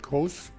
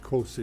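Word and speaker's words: COSE: the question was also how should you pronounce that like cos well we came up with cosi is sounding better but in the process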